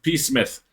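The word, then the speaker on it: Psmith: to that it's pronounced P Smith the p is silent as in Super Street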